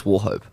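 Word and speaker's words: Wauchope: hundreds on I think I think it's warhope yeah well hope okay it's spelled w-a-u-c-h-o-p-e um yeah and I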